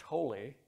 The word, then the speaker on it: Thole: My last name is pronounced Thole, T-H-O-L-E.